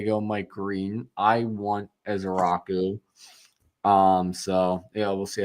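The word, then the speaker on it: Ezeiruaku: whose last name I don't even attempt to pronounce. Ezaraku. So what's that? Ezaraku. Oh, is that how you say it? I've been wondering this whole time. Ezaraku.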